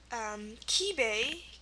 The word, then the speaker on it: Kibei: See that there's at the end of the word, but it's EI. Nisei, Nisei. Kibei, Kibei, and Sansei, Sansei. So these are those family-related words, and they're probably the only ones that end in EI for the A sound.